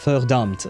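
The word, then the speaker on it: Verdammt: Verdumpt. Wait, how do you pronounce the V? Is it fur or ver? No, it's fur, right? The V is pronounced F in German, but I think there is an exception.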